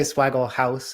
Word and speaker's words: Swagglehaus: a lot of people say Swagglehaus. I guess it's technically Haas, but Oh, whichever one rolls off the Swagglehaus.